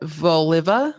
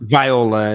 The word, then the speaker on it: Viola: from 24 year-old claudet voliva voliva it's Viola it's spelled wrong in there oh Viola okay